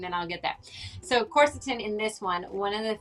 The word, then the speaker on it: Quercetin: Let me just say it right. Quercetin. Am I getting it? Am I getting closer? Yeah, Cute. Quercetin. Quercetin, yes. I really have to visualize a corset every time I say it, and then I'll get there.